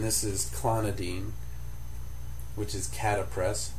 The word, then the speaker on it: Catapres: Then we move on to uh just one of the alphaag agonists and this is clonodine which is catapress c a t a p r e s.